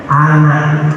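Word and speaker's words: أنا: Nah, tulisannya panjang, dibacanya pendek. Apa itu? Wa anak dibaca pendek.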